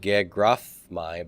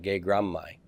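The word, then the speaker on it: γέγραμμαι: So it's not going to be gegraphmai, but gegrammai.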